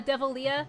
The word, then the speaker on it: Devilia: devilia says hey to pronounce my name is devil and with the leah at the end uh uh devil leah devil leah devil leah